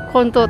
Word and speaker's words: Konto: Ingat ya bacanya jangan kebelabasan, Konto Furniture, Konto tanpa L.